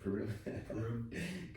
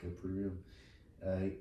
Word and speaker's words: Purim: Purim. Purim.